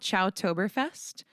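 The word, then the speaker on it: Chowtoberfest: us about that concert it's called ciao toberfest and it's it's c-h-o-w but it's it's the way you would pronounce one of the coordinators last names ciao Deli and a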